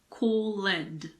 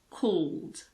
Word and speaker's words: called: If the past form of a verb ends in ed, we normally don't pronounce the letter E. Called. It's not called or called. It's called.